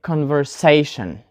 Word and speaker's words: conversation: the answer is conversation so we put the stress on the syllable say because the word ends in letters tion tion and for those words which end on tion we put the stress on the penultimate syllable remember the second one from end so we say conversation so this is it